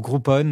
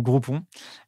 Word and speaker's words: Groupon: Donc, j'ai fait une mission de conseil pour Groupon ou Groupon, selon qu'on le prononce en français ou en anglais à l'époque.